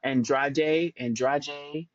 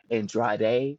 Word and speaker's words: Andrade: I also want to shout out Rebecca Andrade. I think that's how they say it in Brazil, but it's spelled like Andrade, whatever.